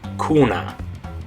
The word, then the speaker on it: cuna: We had cine, we had cena, but if you put a different letter after the C, it's not an E, not an I or an E, like this word with the U after the C, then it changes back to a hard C sound. You're going to say cuna. Okay?